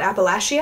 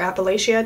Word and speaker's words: Appalachia: you look at a map they're talking about Appalachia or Appalachia depending on how you pronounce it and the blue Bridge mountains in